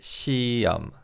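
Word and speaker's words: 시험: and it's the exam exam in korean is shiyam the here in the second syllable is silent in fast speech so it's let's say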